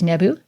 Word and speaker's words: nbw: These are N, B, W, and we pronounce this today as Nebu, and can be used in a variety of words.